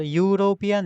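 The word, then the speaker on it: European: पहले क्या आएगा बोल यूरोपियन यूरोपियन आएगा क्योंकि इसका साउंड आ रहा है यू यू होता है कंसोनेंट यूरोपियन ई इसमें साइलेंट है इ यू आर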